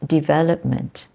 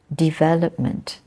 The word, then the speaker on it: development: second syllable develop but when it becomes a noun it changes to development development and the stress is changes slightly yeah development okay there are